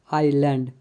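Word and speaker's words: island: S silent, आई तथा आई के बीच में आया हुआ एस कई बार साइलेंट होता है, जैसे आईलिट, आइलैंड, इन दोनों वर्ड में एस साइलेंट है।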